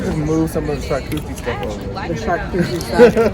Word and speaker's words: charcuterie: Someone just mispronounced charcuterie board, and they started our charcuterie board.